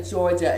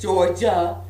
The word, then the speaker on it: Georgia: But anyway, this is at the Georgia Aquarium. And side note, Dwight, it's Georgia, not Georgia.